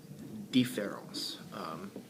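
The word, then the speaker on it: différance: I'm not very good at pronouncing French, but it's pronounced Differance. Now we have the concept Differance, and we have the concept Differance. The E and the A are pronounced the same, so I'm gonna talk about that.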